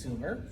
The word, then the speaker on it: Sumer: and of course uh modern historians have agreed that it was more than likely pronounced Sumer okay I put their